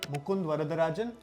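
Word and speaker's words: Mukund Varadarajan: five languages the biopic is about uh major Mund varadarajan I'm not wrong if I'm not butchering the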